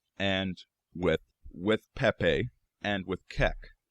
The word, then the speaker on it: Kek: That Kek was the name of an ancient Egyptian deity, a frog-headed one. Also worth noting, it can also be pronounced Kuk.